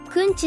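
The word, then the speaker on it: くんち: の風習が伝わり 9 日九日をくんちと読み祭礼日の意味と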